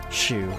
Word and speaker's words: Hsu: Is it like Su, or is the H pronounced? Shu, okay.